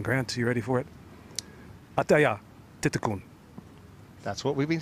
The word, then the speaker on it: Atthaya Thitikul: Just got a pronunciation lesson from her manager, Kenzen Grant. You ready for it? Atthaya, Thitikul.